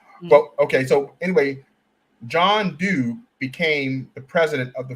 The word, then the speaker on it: Dube: The South African person who came over and talked and met with Booker T was John Dube. His last name is spelled D-U-B-E.